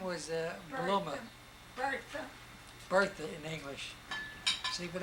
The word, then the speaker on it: Bluma: Her name was Bluma. Bertha in English. See, but everything was Bluma.